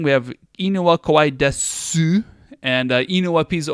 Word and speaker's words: desu: We have inu wa kowai desu and inu wa pizza o tabemasu, right? They end in that. It's not pronounced su here, but that's how we write it.